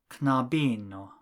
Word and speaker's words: knabino: If you change the ending from o to ino, the stress will also change. For man, the last but one syllable is the first syllable, viro.